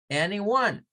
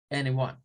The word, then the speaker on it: anyone: La siguiente parte, que es one, se puede pronunciar como una W, el sonido AU, una mezcla de AU y una N. One, anyone. O se puede pronunciar con el schwa, anyone. Cuando se pronuncia con el schwa es como una sola, anyone, anyone.